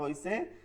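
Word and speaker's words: حاء: বা ওবা ও বাবা এই যে বাংলায় আপনাদেরকে লিখে দেওয়া হয়েছে আপনারা এই যে বাংলা যেটা লিখে দেওয়া হয়েছে এইটা আপনারা পড়বেন।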